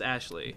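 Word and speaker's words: Aisling: spell but whatever spelled I sling but it's pronounced Ashley that's right so weird Celtic thing anyway just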